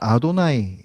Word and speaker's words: 아도나이: 표현들이 많이 나오잖아요 그런데 그 유대인들은요 그걸 여호와라고 이렇게 발음을 하지를 않는데요 쓰기로는 그 여호와에 해당되는 자음을 써놓고 그걸 읽을 때는 아도나이 이렇게 읽는다고 합니다 그러니까 그만큼 하나님의 이름을